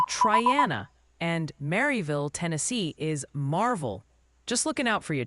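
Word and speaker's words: Maryville: Oh, and quick heads up from the pronunciation patrol. Triana alas is apparently Triana and Mville, Tennessee is Marvel.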